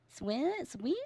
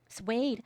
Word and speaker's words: suede: How do you pronounce that? Si sweet. Swede shoes. Suede.